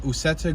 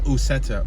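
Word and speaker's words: Uceta: I think it's called 3 because I've seen a few other Usetta or Uketa. I believe it's Usetta. U-C-E-T-A. Usetta. Might be a Spanish pronunciation.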